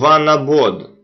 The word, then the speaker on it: Vanabode: It is called One Abode. Just Google it on your computer and you will see what I'm talking about. It is spelled VANABODE. One Abode Travel.